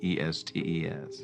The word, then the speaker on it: Estes: D A N N Y R period E S T E S. How do you pronounce it?